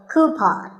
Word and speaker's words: coupon: of these a coupon a common incorrect pronunciation is but the second syllable should be pawn so coupon here's word number 16